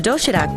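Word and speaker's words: 도시락: The doshirak box offers a terrific, healthy variety of neatly packed food.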